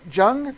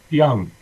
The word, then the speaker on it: Young: Jung? Is that right, Rob? Young. Pronounce the J like a Y.